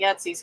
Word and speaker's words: Etsy: Etsy store.